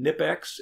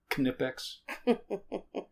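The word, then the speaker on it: Knipex: irwin it's i-r-w-i-n and nip x it's k-n-i-p although some people pronounce it canipex some of the sets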